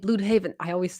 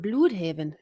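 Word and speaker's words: Blüdhaven: Yeah, it's the accent on the U. I'm always like Bloodhaven.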